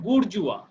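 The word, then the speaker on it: bourgeois: এই যে বানানটা দেখো, এটা উচ্চারণ হচ্ছে বুর্জুয়া। উচ্চারণটা কি?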